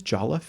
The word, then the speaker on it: jollof: One actually comparison is, I think it's jollof, Jollof is how you pronounce it.